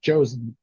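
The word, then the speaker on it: Joseon: oh no it is it is in fact pronounced like a j and like in Korea in Korean and English they both sound like Jay so it's josen yes finally phonetic spelling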